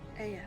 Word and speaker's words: Ea: Aya, that's how you pronounce that.